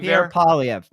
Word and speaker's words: Pierre Poilievre: How do you pronounce Pierre's name? Poilievre? Pierre Poilievre.